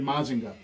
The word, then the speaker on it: Mazinger: a mazinga because uh in the show again it's mazinger but they would pronounce it mazinga so they just renamed